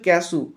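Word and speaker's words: cashew: কাজু নাটস এর উচ্চারণটা ইংলিশে উচ্চারণ ক্যাসু, কয়ে জফলা আঁকা তালবেশয় দীর্ঘ, ক্যাসু।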